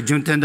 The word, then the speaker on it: Juntendo: Actually, Juntendo and Nintendo pronunciation really similar, but a big difference.